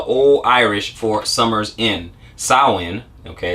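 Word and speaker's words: Samhain: comes from the old irish for summers in saowin okay it's pronounced win was the first and most important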